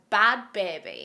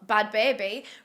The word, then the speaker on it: Bhad Bhabie: boli was reborn as bad baby and that's spelled nothing like how it sounds bad is spelled with a h try and guess where